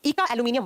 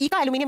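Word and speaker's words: eka-aluminium: अगला, the unknown element named इका एल्यूमिनियम bye Mendeleev was named as what in modern periodic table. Modern periodic table में इका एल्यूमिनियम या एका एल्यूमिनियम जैसे प्रोनाउंस करो, इसे बाद में किसको रिप्लेस कर दिया गया था।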